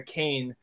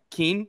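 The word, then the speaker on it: Kean: as a as a Kane footballer first of all I can't tell you that the very few amount of people who pronounce that correctly because it reads like Keen so like a good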